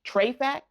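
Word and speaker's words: Trefac: The next place you might have your luck in is going to Treyact Style. So Treyact is basically short for Treasure Factory. So it's spelled T R E F A C and then it's style.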